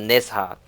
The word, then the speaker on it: Nezha: Warframe, so for the time being, we're gonna pronounce the H and call it Nezha.